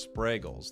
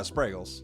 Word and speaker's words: Spragels: Dexter told us that you told him your name is pronounced sprragles. Like spray bottle. I guess that's one way to look at it. Spray bottle is a way to It's like Yeah. Sprles like bagels.